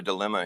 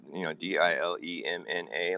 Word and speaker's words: dilemma: I remember pronouncing it incorrectly, so I could remember it had a silent N in the word. Dilemna.